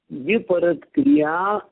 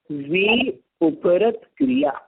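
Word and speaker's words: व्युपरत क्रिया: विपरत क्रिया अनिवत्त इसका सही उच्चारण है वि उपरत क्रिया क्रियाओं से तो उपरत हो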